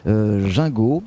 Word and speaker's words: Gingaud: aborder ce sujet avec Madame Gingot. Est-ce que je me suis trompé ou pas? Non, pas du tout. Parfait. Vous avez bien prononcé.